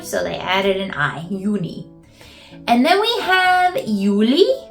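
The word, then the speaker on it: Juni: my is may still very similar June is uni uni so they took the E off and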